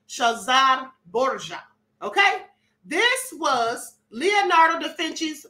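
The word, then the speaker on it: Cesare Borgia: him Caesar shazar bour Caesar bour that's how we've been pronouncing it but it's actually shazar bour okay this was Leonardo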